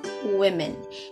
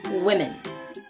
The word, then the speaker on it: women: women so even though the first three letters of this word are the same as the singular woman but the vowel is very different so you are going to pronounce it as women and not woman or